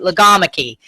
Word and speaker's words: logomachy: Logomachy.